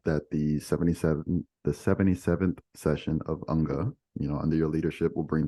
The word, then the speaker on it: UNGA: The UK delegation seems to like to call it UNGA. UNGA, UNGA. During UNGA. Ugly sounding, but just be aware of that. If you hear in a UN context, UNGA, they're talking about the General Assembly. It's really from the throat, UNGA.